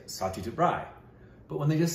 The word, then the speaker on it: Satyajit Ray: I know there's ways, but when people pronounce his name the proper way, like Indrani will say Satyajit Rai, but when they just say his last name, they'll say Ray.